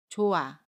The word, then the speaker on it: 좋아: 받침 히읗은 발음하지 않고요. 모음 아는 그대로 발음합니다. 그래서 좋아라고 발음해요. 좋아.